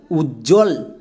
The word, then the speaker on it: উজ্জ্বল: Silent না check করো যেমন উজল উজ্জ্বল। এখানে কিন্তু বই এর সাউন্ড পাচ্ছি না। তার মানে ব এখানে সাইলেন্ট। যদি বইয়ের উচ্চারণ না আসে তাহলে ব সাইলেন্ট।